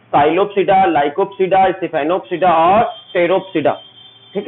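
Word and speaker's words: Psilopsida: साइलोप्सिडा, लाइकोप्सिडा, सिफेनोप्सिडा और टेरोप्सिडा। ठीक है, ये टेरोप्सिडा में पी साइलेंट रहेगा, साइलोप्सिडा में पी साइलेंट रहेगा।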